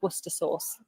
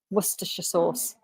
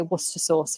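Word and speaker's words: Worcestershire: oh hang on hello uh how do you pronounce Liam perin's wer so we say tend to say wer Source wer Source tends to be shortened but you might say werer wora sauce wora sauce but most people just say wer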